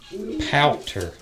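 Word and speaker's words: pouter: all blown up listen that is a powder yeah it's spelled p-o-u-t-r like you're pouting and they blow up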